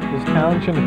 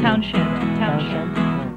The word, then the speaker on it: Townshend: Townshend is the proper pronunciation. Townshend. Yeah, T-O-W-N-S-H-E-N-D. Townshend. Doesn't really matter. You can pronounce it either way.